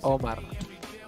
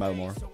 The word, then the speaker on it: Omar: It's Omar. Please, pronunciation. What? It can be pronounced either way. It is a Spanish name. I have a kid in my class named Omar, and we just call him Omar.